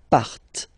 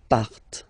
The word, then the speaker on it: partent: Remember, classic ending, ent, but then you don't pronounce them, partent, partent.